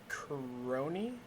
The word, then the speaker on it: Crony: And then, Crony? Is that how you say it? 13. Yes, correct.